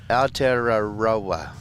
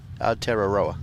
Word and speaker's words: Aotearoa: That's because Kiwi broke it down into O-W-R, T-E-A-R, tear, R-A-H, row your boat. Oh, fantastic. A-H. Aotearoa. Well, thank you for that. But you got to roll your R.